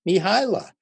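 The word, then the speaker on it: Mihály: name no one in the whole world can pronounce, but his name is Csikszentmihalyi. Csikszentmihalyi. His first name is Mihaila.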